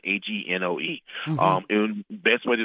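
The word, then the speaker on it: Angoe: is Night by Yasmin Agone. I'm pronouncing it wrong. It's Yasmin, Agnoe.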